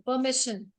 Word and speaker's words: permission: Permission. R is silent. लिखते time R लिखते हैं, बोलते time R नहीं बोलते हैं. Permission.